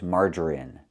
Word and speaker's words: margarine: And the last word we know is margarine. It's pronounced with the short i sound in in this is in margarine.